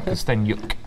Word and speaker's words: Kosteniuk: Okay, so this is the current position, and Kosteniuk against Sibag. Was that better? That was excellent, Simon. Ah, brilliant. I've pronounced it good this time. Kosteniuk. Can I really pronounce the yuk?